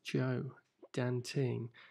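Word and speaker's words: Zhuo Danting: Joe Dan ting about zah UO pronounced Joe Dan ting she's an artist in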